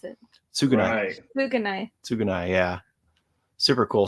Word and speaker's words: Tsugunai: Pronounce it. Tsugunai.